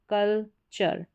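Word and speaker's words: culture: पीछे चर फिर टॉर के पीछे चर का उच्चारण हो रहा है यहां पर है फर्नीचर फिर है फ्यूचर फी चर कल चर इस तरीके से फिर यहां पर यहां पर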